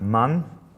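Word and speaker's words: 万: So it's pronounced man.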